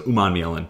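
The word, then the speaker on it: Umanmielen: So Umanielen, had to get him in here.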